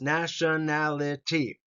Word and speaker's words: nationality: you repeat age nationality there five syllables nationality nationality and the emphasis is on nality right nationality next Word occupation